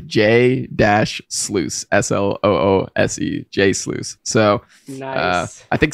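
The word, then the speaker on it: jsluice: this is awesome but how do I pronounce the name and so he replied to J dash sluice s-o-o-o-s-e-j sluice so I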